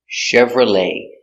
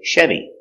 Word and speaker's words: Chevrolet: with the word Chevrolet we have the CH pronounced Chevrolet and we have the ET pronounced a Chevrolet or you can say Chevy let's practice do you